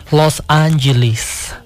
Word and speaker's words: Los Angeles: Ganyan po talaga, sabi ko sa inyo ang pronunciation ng Los Angeles. Los Angeles.